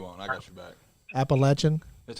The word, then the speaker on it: Appalachian: up yeah you won't I got you back appalachin that's how you say it how you say